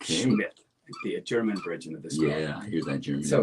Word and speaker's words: Schmidt: her last name was the way they he pronounced it was Schmidt. You know it's not the S mi th I think it's the S ci. Okay. Schmidt.